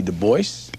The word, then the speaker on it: Du Bois: david levering lewis w.e.b du bois yes he always insisted on that pronunciation uh he did not like the gaelic pronunciation though in his antecedents he was partly french look at this nigga's